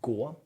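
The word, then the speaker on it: 国: Now, this gets pronounced gu.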